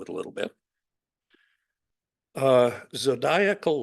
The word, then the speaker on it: zodiacal: a little bit uh zodiacal light and I'm I have been assured that is how you pronounce it it's like maniacal so uh phases of